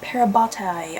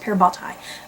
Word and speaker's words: parabatai: um the explanation of parabatai i believe that's how it's pronounced pear bhattai uh and parabatai are